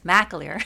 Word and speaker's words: McAleer: My friend, McAleer, just have been mispronouncing her last name for years until just learned that it's not McAleer, it's McAleer.